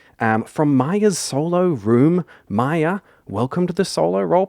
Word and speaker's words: Maia: Maya, welcome to the Solo Role Players podcast.